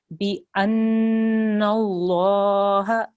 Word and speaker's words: بأن: Make sure there's a noon with a shadda here. Okay, that's a noon guna. So you have to hold on that sound for 2 seconds. Bi anna Allah.